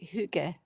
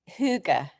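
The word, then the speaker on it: hygge: Huga. So I And I could be It's something like that. Yeah. Yeah. You say a a Y with a O-shaped mouth.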